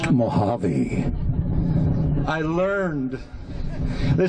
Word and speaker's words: Mojave: the house of o.j bassard i said it's pronounced mohave i learned they said what are you going